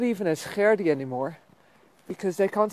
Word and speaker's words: Gerdi: It's Gerdi. You clear your throat and you roll your R's and you've got Gerdi. It's not so difficult. And it's not Geddy or Gerda or Gerdi or the Eddie.